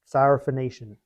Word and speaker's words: Syrophoenician: So Syro, Syria, okay? And she was a Phoenician woman, okay? So they just, Syrophoenician. Just cool to say it.